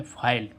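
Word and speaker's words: file: ओ एन E tone अब ऐसे ही इसमें फाइल एफ आई एल ई अब इस आई का उच्चारण आई करने के लिए लास्ट में हम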